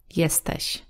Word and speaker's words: jesteś: then we will say jesteś. Jesteś. And this sh at the end is a similar sound as in the word sheep. Still a little bit different. Sh. Sh. Jesteś.